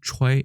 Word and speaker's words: 炊: 그래서 중국어는 초이 이렇게 돼 있고요. 이거하고 좀 비슷하게 생기면서 발음도 똑같고 중국어 발음도 같은 것을 살펴보면 불취자가 있습니다.